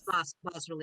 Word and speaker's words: bas-relief: It's boss relief. Is it boss? I don't know. It is boss.